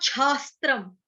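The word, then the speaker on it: छास्त्रम्: तस्मा छास्त्रम, बेसिकली शास्त्रम ही है बट इसका उच्चारण यहाँ पे छ लिखा है तो छास्त्रम करना है।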